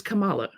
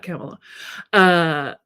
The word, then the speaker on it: Kamala: Kamala says, and it is Kamala, by the way. She pronounces it Kamala, not Kamala.